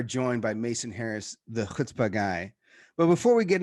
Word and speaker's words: chutzpah: ahead and hit that like button with some chutzpah and with that mason how you doing my